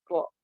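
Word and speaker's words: ر: Ro, ro, ro, ri, ru, ya, or, ir, ya miriplah seperti pengucapan R kalau teman-teman ketika melafazkan bahasa Inggris lah. R-nya kurang lebih seperti itulah ya, R-nya itu. R-nya itu nggak murni R seperti dalam kosakata ejaan di bahasa Indonesia.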